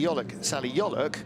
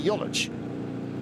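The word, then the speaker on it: Yoluç: who tells me that all the years I've been calling Salih Yoluk, proper Turkish pronunciation, I should have been calling him Salih Yoluc. Right. Because it's a hard C, so he has never corrected that.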